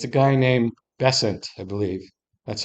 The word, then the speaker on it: Bessent: Secretary of Commerce, and it's a guy named Besant, I believe. That's how you pronounce it.